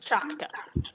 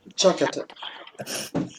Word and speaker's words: Chakata: Not Chakta. Chakata.